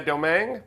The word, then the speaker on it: Domingue: at raing cinjun on HOSA Beach is is it uh domang domang you said it right Adam you're the first